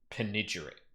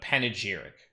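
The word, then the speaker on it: panegyric: Penigeric. Penigeric. No panageric. Okay. Not penigeric. Panageric.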